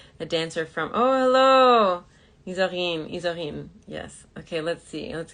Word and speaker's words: Isorine: Isorine?